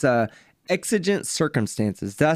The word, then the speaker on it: exigent: is mobile it's i i don't want to mispronounce it but it's uh exigent circumstances did i say that right blue exigent circumstances yes okay so i got it right